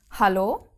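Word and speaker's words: Hallo: the letter H um the German H is aspirated at the beginning of a word like in Halo you you actually have the the breathing out which you don't have in many other languages um but the age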